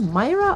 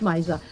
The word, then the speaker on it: Misa: was I was like looking at his name like is that Myra or Misa I I don't want to say it wrong but it's Misa and of course going